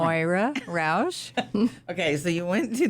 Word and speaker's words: Moira Roush: Moira Roush.